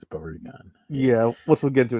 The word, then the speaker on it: Barugon: But It's not Baragon, it's Barugon.